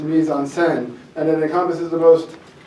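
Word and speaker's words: mise en scène: lines well I'm actually it's not meon it's pronounced Mis onen and it encompasses the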